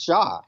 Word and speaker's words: Hsia: How do you say Tim's last name? Is it she? Is it C? Or... So it's Shaw, actually. Shaw, okay.